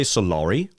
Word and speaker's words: Solary: Did you just say Solary? Solary. Solary. I like that pronunciation.